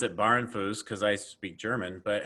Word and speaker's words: Bahrenfuss: I'm here with Stacy, and I would pronounce it Bahrenfuss because I speak German. But how do you pronounce your name, Stacy? Brian, so I pronounce it Bahrenfuss, but I probably should take lessons from you